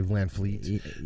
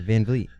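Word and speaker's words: VanVleet: I'm gonna say Van Fleet. Yeah, Van Vliet.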